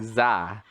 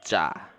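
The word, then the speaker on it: ㅈ: he was pronouncing it it's not like za but when he said it it's ja jah dang it okay so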